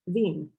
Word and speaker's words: Wien: so let's start with the german word for vienna which is veen so if veen means